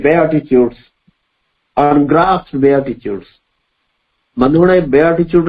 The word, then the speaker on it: beatitude: कहार ना द बेआटिट्यूड्स, अनग्रास्प्ड बेआटिट्यूड्स. बंधुगण बेआटिट्यूड रो spelling देखिबे BEATITUDES. किसी भाई भौणी माने पढ़िबार हम सुनिछि बीटीट्यूड, but that is a wrong pronunciation. It इज बेआटिट्यूड.